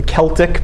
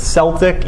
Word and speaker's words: Celtic: When we say Celts, that's spelled C-E-L-T-I-C, the Celtic people. Some people pronounce it Celtic. Either way is correct. Either way is right. We'll call it Celtic so that we don't think of the Boston basketball team.